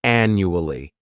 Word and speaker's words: annually: This word has four syllables and the stress is on that first syllable. The second syllable, it's like you're just saying that letter U. And the third syllable has that schwah and new ali.